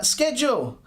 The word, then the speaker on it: schedule: Axeline, schedule. Schedule or schedule, either one. Again, you can use either pronunciation.